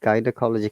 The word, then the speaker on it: gynecology: and logi sorry guys so that's why it is ga sound rather than sabji though there is y after it now so if the